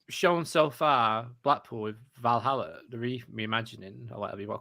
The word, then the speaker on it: Valhalla: is i'm right in saying that it is pronounced valhalla like i'm sure like in the video that